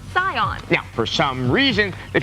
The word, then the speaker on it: Saiyan: When you Romanize Japanese, something spelled S-A-I-Y-A-N is pronounced Scion.